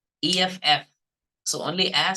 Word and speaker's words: F: Okay, because many Telugu people pronounce this letter, sixth letter F, like YEF. Okay, right? So then it becomes like yef. That is wrong pronunciation. Okay, the correct pronunciation is like EFF.